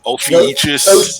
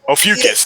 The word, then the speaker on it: Ophiuchus: I really want to get I can't even pronounce the name of the nebula, the Ophiuchus. Ophiuchus. The Ophiuchus. Ophiuchus, thank you.